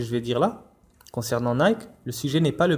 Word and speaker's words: Nike: Donc on retrouve Nike, qui se prononce en vérité Nike comme on va le voir, Inch'Allah.